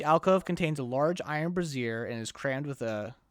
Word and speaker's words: brazier: Each alcove contains a large iron brazier and is crammed with a brazier. Is it brazier? Brazier is like a bra.